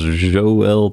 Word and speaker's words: Yoel: I believe it's pronounced Joel Pozo, but it's just a difficult name to pronounce, given the way it's spelled. Joel. Maybe it's pronounced kind of like Joel, but it's a little different than that.